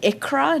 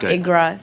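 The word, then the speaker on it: Iqra: everyone point of clarification my name is pronounced ikra not igra so just for for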